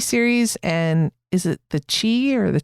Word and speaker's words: The Chi: and is it the Chi or the Chai? I think it's pronounced the Chai, the Shy. It's like Chicago, right?